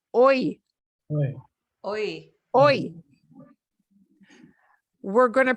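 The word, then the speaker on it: hoy: H, you have to know we spell it with an H, but we don't pronounce that letter. So you're going to pronounce the O first in this word, oi.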